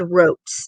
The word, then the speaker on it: Rotes: Last name is Rotes. It rhymes with notes.